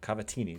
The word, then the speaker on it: cavatini: macaroni and Brill cheese Cavalli pasta no cavatini that's how you pronounce it ew pimento cheese that's